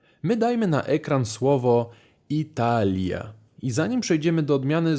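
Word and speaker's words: Италия: To jest Italia, czyli Lia. Tam naprawdę jest to i ja słyszalne.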